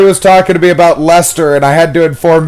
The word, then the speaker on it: Leicester: It's like when Corey was talking to me about Leicester, and I had to inform him that I don't care how British fucks it up.